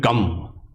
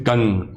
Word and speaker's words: Gang: People might pronounce it Gam, but actually it's Gang.